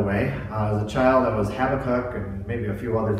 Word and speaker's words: Habakkuk: week we're looking at Habakkuk and that is how you pronounce it by the way the child that was Habakkuk and maybe a few other things but Habakkuk and we're looking at